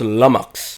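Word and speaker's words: lummox: ] is a lumox oh it's pronounced lumx a clumsy or stupid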